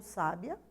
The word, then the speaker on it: sábia: sílaba chamamos de proparoxítona a palavra sábio ou sábia se refere a pessoa com muito conhecimento né percebam que a sílaba tônica ali está no sa na inclusive é acentuada Já a palavra sabia